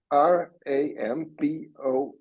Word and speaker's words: Ramboll: How do you spell it? RAMBOLL.